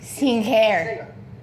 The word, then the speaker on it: singer: Another popular word with singer. A silent letter. Singer. The G is silent. Now, we say finger, we say the G. Younger, again with the G. But singer, no G.